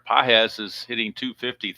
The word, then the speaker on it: Pages: As we head to the top of the third, and Anthony Pages is what I've been told is how you pronounce that, not Pages, but Pages.